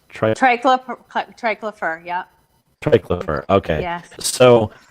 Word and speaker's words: triclopyr: But the second one, is it triclopyr? Triclopyr, yeah.